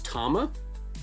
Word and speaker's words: Tama: And my name is pronounced like the drums. So it's Tama cuz it's Tama drums.